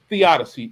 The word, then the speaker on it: theodicy: Now, Theodicy is, how do you pronounce it? Theodicy.